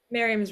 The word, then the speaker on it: Miriam: Is it Miriam? Is that how you pronounce it? Or is it? Miriam's right, yeah. My name is Miriam.